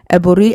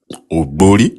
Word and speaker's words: Oburi: Eburi. You are mispronouncing the very first word, which is O. O. Oburi. Yeah, Oburi perfect.